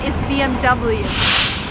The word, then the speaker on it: BMW: a German car and in Germany you would say BM back but if you're in America and you want to sound American its BMW and no other options BMW I have a